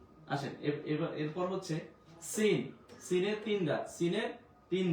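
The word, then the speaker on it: س: Scene scene scene, scene উচ্চারণ ক্ষেত্রে একটু স্ট্রংলি বলতে হবে আপনাকে।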